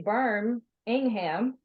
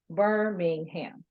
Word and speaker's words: Birmingham: it means right so I could say burn Ingham and then I made it basically two syllables right because I I said b-u-r-m - I said berm and then Ingham in ham instead of Birmingham so basically I shifted